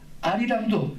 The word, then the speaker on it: 알이랑: 알이랑도 똑같아요. 처음에는요 알이랑인데 여는 니을이 다음 음절에 솥소리로 발음되니까 알이랑이 된 거예요.